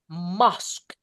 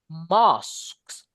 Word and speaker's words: mosque: Oke, across the Muslim world, kalau sepenjuru dunia guys ya, mosque. Sis Mozo bacanya mosques gitu ya. Mosque. Jadi O-nya itu kayak dibaca O. O kecampur sama A. Mosque.